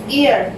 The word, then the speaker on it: heir: HEIR, H silent है, E तो एयर, एन एयर, इसके आगे भी एन आएगा।